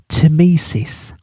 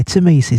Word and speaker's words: Tmesis: down, in nice clear writing, a word called Tmesis. Now I'm going to spell it for you.